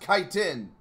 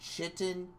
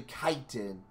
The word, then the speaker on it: chitin: since we're gonna meet time anyway chitin it's pronounced chitin the more you know actually that is good information honestly I await I always thought it's pronounced chitin but it's actually chitin I can't blame me it's ch I T